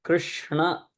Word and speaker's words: Krishna: it says m and so Krishna is the correct pronunciation so I I will